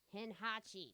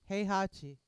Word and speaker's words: Heihachi: versus Henhachi. Heihachi. Heihachi. Thank you, Miss Correct Pronunciation.